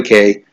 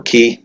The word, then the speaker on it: Cay: itinerary will also include Disney's private island Castaway Cay or key of you pronounce it in the Bahamas please subscribe by